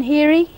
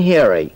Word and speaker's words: Heary: Heary. Heary. Heary. How do you spell that?